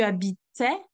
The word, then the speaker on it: habitais: Then you stop to the T sound. And when you go to the imperfect, the T sound is pronounced and then you have the sound E that is following.